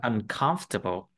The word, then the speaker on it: uncomfortable: Mấy cái chữ table không đọc là table đâu, nó đọc là table. Cái từ này đọc là có ba âm thôi.